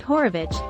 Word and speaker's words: Horowitz: some of his other stuff was interesting anthony horowitz pronounced horovich and terry pratchett i was going to say